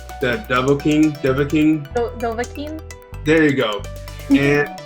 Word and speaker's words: Dovahkiin: My kids are always correcting me on the correct pronunciation. The Dovahkiin.